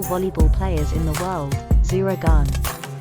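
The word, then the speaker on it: Zehra Güneş: players in the world zuragan you may also know her as zero guns which is how her name is spelled in Turkish zuragun is a 22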